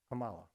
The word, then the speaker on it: Kamala: Oh, well, how do you pronounce it? Kamala, okay.